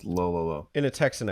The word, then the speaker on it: Lololo: I imagine it's pronounced like DDD, so it's Lololo. Yeah. It's low, low, low.